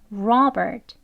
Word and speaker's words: Robert: 같이 해볼게요 Robert Robert 예이 끝에 오는 트 소리는 아주 약하게라고 해 주시고요이 이름 하나만 발음을 할 때는 끝소리 약하게 소리를 넣지만 대화 속에서는 Robert 이렇게 트 소리까지 넣어서 발음하지 않고요 대부분은 이렇게 으 하는 소리로 끝나 듯이 Robert Robert 이렇게 발음이 됩니다 그것도 알고 계시고요 다음은